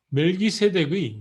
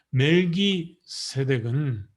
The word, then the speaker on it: 멜기세덱: 멜기세덱의 원 히브리 발음은 말키ጼ덱입니다.